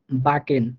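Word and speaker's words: backen: যেমন বাকেন, দেখেন এখানে আমরা মাঝে সি কেটা পাইছি, তো এই সি কে উচ্চারণ একসাথে হবে, সেটা হবে ক এর মতো করে, বাকেন।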